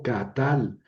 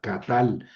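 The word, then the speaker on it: קָטַל: Catal quiere decir matar, ¿verdad? Y son dos sílabas. K, que es una sílaba abierta porque termina en vocal y tal, que es una sílaba cerrada porque termina en consonante.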